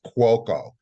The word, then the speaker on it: Cuoco: And it's my first name is Cuoco, and Cuoco, yeah. it's spelled Cuoco. My grandparents came from Naples, Italy. Wow. So cuoco, its derivation somewhat is Italian for chef or cooking.